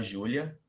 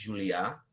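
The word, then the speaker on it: Julia: que é chamado eh o nome dele lá tá Júlia mas ele é um francês eh Dominique juliá é assim que se pronuncia enfim ele trata que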